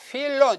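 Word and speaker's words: Philo: 자 여기 제가 보세요 휠로 좀 있다 영어를 읽으면 파일로 원래는 파일로 아니고 휠론이에요 플라톤이에요 우리가 반항하는게 맞아요 영어로 발음하는 것이 원래 음이 아니에요 그 다음에 스트라보 하는데요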